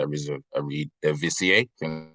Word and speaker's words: Eredivisie: highlights like everyone else from the Eredivisie. That's how you say it, the Dutch league.